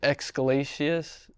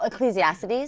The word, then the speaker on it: Ecclesiastes: And, um, I always pronounce this wrong. What is it? Excalatiius. Oh, Ecclesiastes.